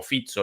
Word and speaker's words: Fico: orbán con En referencia fico o fizzo lo llaman los los eslovacos pronunciado Aparentemente así en en eslovaco ese nombre Eh bueno